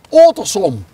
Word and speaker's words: Ottersum: Hoe spreek je Ottersum uit? Ottersum.